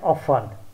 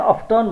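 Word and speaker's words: often: यहाँनिर हेरौँ ओएफटीएन अफन, ओएफटीएन अफन सामान्यतया अफटन भन्ने गरिन्छ, अफन, एसओएफटीएन सफन, एसओएफटीएन सफन।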